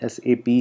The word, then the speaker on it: SAP: अच्छा, इसको बहुत सारे लोग सैप भी कहते हैं, तो दैट इज़ इनकरेक्ट। नोट्स में आप देखेंगे लिखा हुआ भी है, तो इसको हमने एसएपी ही प्रोनाउंस करना है, तो सैप नहीं है।